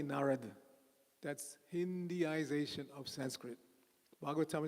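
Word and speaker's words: Nārada: presented in Sanskrit it's narada everybody say narada not narada that's hindiization dropping the last a but we don't do that in Sanskrit in Sanskrit every syllable is pronounced so it's nar nar narada okay so nari is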